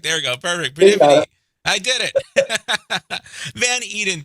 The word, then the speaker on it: Peripety: Peripety.